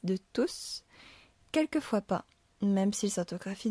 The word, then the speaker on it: tous: Tous ne le savent pas. On entend bien T-O-U-S. C'est donc uniquement dans ce cas, quand il occupe la fonction de pronom indéfini, que l'on va prononcer le S.